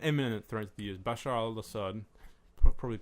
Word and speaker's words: Bashar al-Assad: Bashar al-Assad. Probably pronouncing pronouncing it wrong. No, that's right. Bashar al-Assad 23%.